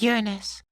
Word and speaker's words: Uranus: For one, he dismisses the pronunciation of yur-in-us, but I would argue that it's the most clear pronunciation, since it's the standard scientists already use.